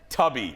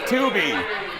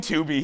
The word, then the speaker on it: Tubi: Tubby or Tubi or whatever, yeah. Tubi.